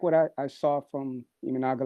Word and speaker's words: Imanaga: Not only is it Amanaga? I mean, is that how we say his name? Yes, it's Imanaga.